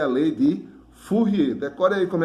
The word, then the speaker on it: Fourier: Então, pessoal, essa aqui é a lei de Fourier. Decore aí como é que escreve o nome dele. F-O-U-R-I-E-R. Fourier. Fourier é francês, né? Que essa aí é uma pronúncia francesa.